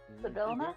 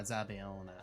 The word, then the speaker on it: Zabila: Sabina, I hate you. Stop it. Oh, Zabila. Zabila. Yes. Yes. Yes. Sabila. Pronounced with a hard L. That's also a Z.